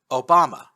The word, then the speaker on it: Obama: Obama, spelled and pronounced the same way as a certain U.S. vice president, was a small Japanese